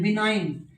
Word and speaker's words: benign: MALIGN देखो कितनी अच्छी स्पेलिंग है, MALIGN, मेलाइन, गै साउंड साइलेंट, जी साउंड साइलेंट। बिनाइन, दिव्य, देवीय, तो BENIGN, बिनाइन।